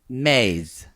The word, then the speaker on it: mes: Spanish month is Maze. Oh, M-E? M-E-S. Oh, maze. Maze. Not meses. That's Again, no Italian. one cares. I don't know. Maze.